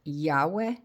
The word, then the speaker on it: Yahweh: in English is pronounced Yahweh, just so you know, there is no W sound in the Hebrew language.